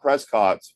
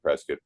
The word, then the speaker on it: Prescott: What is the something that Trescat, Arizona, not Prescott, by the way? Just do a little uh lesson in in pronunciation. Pres Valley. Uh yeah. Yeah. Prescuit Valley and Prescuit.